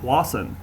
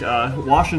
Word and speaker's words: Hwasin: I feel like when I started listening to StarCraft, people would always call him Hwasin, and that was maybe just class art. But at any rate, Hwasin I think is how it's supposed to be pronounced.